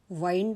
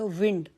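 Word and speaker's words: wind: तर तसच इंग्लिश मध्ये आता आपण बघितलं की डब्ल आय एन डी चा उच्चार वाईड असा आपण केला त्यावेळे त्याचा अर्थ गुंडाळणे असा होता आणि दुसऱ्या वाक्यात डब्ल आय एनडी चा उच्चार प्रोनन्सिएशन होत विंड आणि त्याचा अर्थ वारा असा होता तर इंग्लिश मध्ये असे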